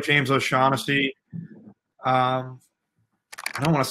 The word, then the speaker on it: O'Shaughnessy: Am I pronouncing that right? Yeah, James O'Shaughnessy.